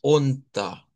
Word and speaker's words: unter: Entonces, una es Deutsch y ahora agregamos unter, que cabe mencionar que no se pronuncia como R, sino con una A en media, y vamos a ir estudiando poco a poco en dónde se utiliza.